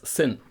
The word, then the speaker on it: Sinn: Common mistake is Sinn, Sinn, and this is wrong. It's Sinn with a soft S, like in.